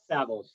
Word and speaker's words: Savills: Did I pronounce that correctly? Savills.